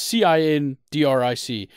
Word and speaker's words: Cindric: It's either Cindric or Kendrick, but it's Cindric.